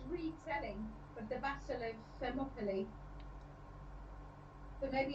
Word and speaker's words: Thermopylae: I can't even pronounce it. What's it? Thelopily. You can't say that. Thermopylae, yeah.